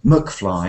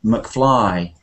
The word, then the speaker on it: McFly: but if it's a short name like McFly then it's always the main part which is stressed so it wouldn't be McFly it would always be McFly you know from Back